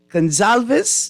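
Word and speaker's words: Gonsalves: I don't know which one is worse but gonzalves that's how you pronounce his name I don't even I can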